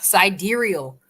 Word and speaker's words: sidereal: say about the subject side reel is pronounced side dear real oh really inside dear real sidereal scienterial oh god i'm